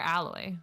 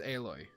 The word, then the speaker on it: Aloy: voices aloy but like is it aloy or alloy it's aloy oh I also thought it's alloy I I guess you could technically say it either way but they do pronounce it aloy in the theame in the game that's what I was